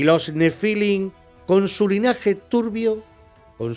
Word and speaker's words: Nefilim: Después de todo lo contado, ¿qué son de verdad los Nefilim o Nefilim, como en realidad se debería de pronunciar por su origen hebreo?